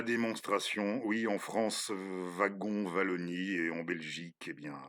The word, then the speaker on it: Wallonie: Non, Wallonie, oui, chez nous, dans notre petit royaume, on prononce le W de Wallonie comme ça, mais je sais que vous aimez le prononcer Wallonie, comme dans, oui, les